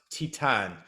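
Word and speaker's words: Titane: a French movie called I want to say it's pronounced Titan t-i-t-a-n-e do you ever hear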